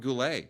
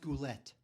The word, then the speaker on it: Goulet: Uh Robert Goule, right? Bernardet Peters. Come on. It's pronounced Goulette.